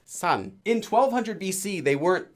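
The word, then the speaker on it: 山: For example, this character in Hanja means mountain, and Koreans today read it as san.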